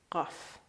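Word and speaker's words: قاف: Now, pronunciation-wise, please don't try to pronounce it exactly as Iranians because you're going to get a sore throat. Just do your best, okay? It's glottal. Qaf.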